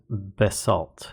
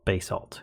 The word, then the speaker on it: basalt: least our first feature covers basalt or basalt however you would like to pronounce it and it usually will